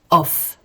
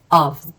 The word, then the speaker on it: of: to stop here because we never say off or off this is a different word it means different and it's spelled differently okay this is of of of like a and a v of here it's a preposition and you know now that prepositions are where related to places okay it's pronounced as of of okay let's see examples